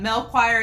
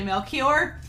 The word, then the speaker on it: Melchior: monster and several others pointed out that mel choir is actually melchior thank you i'm the